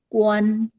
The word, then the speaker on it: 关: I made a mistake with 关. It's not W-A-N. Everybody please change this to G-U-A-N. G-U-A-N. 关 first tone. Okay, G-U-A-N. Okay, G-U-A-N. 关 is to shut the door.